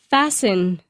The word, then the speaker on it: fasten: Fasten. Fasten. 系牢。 You must fasten your seatbelt before driving. 所以特别注意到这个字的 T 是不发音的。Fasten, fasten, fasten your seatbelt 就是绑紧你的安全带。